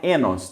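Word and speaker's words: οἶνος: Em grego se escreve oinos, mas o ômicron iota em grego é um ditongo, que é um ditongo que tem um som de E. Então, oinos em grego, o som é enos, tanto que o estudioso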